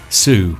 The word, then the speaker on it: Sioux: The Saioi faction, oh my god, I'm just so bad at doing this, I'm actually gonna have to Google it. How to pronounce, there we go. Sue. Seriously, it's just Sue.